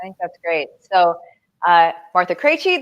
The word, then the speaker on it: Krejci: So, Martha Krejci, that is how you pronounce all of those consonants really close together.